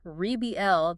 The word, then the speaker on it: rebel: The noun arbel, the person who fights against authority stresses the first syllable. The verb rebel, the action of fighting back stresses the second.